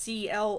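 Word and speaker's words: C~L: They referred to C squiggly L, whose name was pronounced CL.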